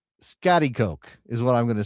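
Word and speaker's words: Schaghticoke: I gotta go with Scatty Coke. Okay. So, the Wikipedia pronunciation. Give Give me my flowers. I got it right. Scatty Coke.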